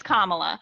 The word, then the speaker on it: Kamala: Yeah, Think of Karma, comma. Karma, It's Karma, Kamala.